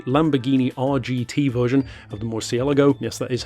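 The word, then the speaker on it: Murciélago: The SLR 722 GT, the Lamborghini RGT version of the Morsielago. Yes, that is how you pronounce it.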